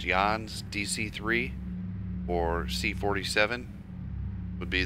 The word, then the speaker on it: Jahns: it's a and Fred I think it's pronounced yawns dc-3 or c-47 would